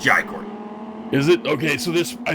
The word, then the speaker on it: Jai Courtney: It's Jai Courtney.